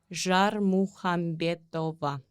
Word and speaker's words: Zharmukhambetova: It's pronounced Jar Muhambeto. Okay. Jar muhantova. Okay. Almost. Yeah. Jar muhantova. So, actually the k is silent.